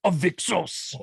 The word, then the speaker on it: Avixos: John, I don't mean to do this, but you said your character's name wrong. His name is Avixos.